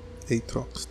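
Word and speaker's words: Aatrox: champ we have here it's atrox or a trucks i know you pronounce this guy's name atrox the darkin blade so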